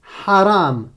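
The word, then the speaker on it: حرام: Ha. Comme dans haram. Haram. Est-ce que tu entends le son râpeux au départ? Normalement, ça doit te faire mal à la gorge, hein, à un moment donné.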